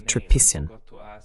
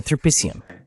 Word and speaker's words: Tripician: Esqueci de perguntar se seu sobrenome é pronunciado tripan. Tá correto? É tripician. Quase.